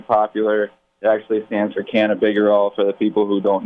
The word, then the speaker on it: cannabigerol: I like it because it sounds like, can I be bigger or no?